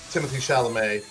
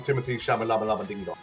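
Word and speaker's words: Timothée Chalamet: As much as I really respect um uh Timothy Shalamé, I sometimes tend to call him Timothy Shamala.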